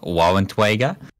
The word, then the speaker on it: Waffenträger: Of the Rheinmetall Bursig Waffenträger called the Iron Rain. Yeah, that sounds very balanced there, Lostin. You pronounced that wrong, by the way. It's Waffenträger. Waffentweiger?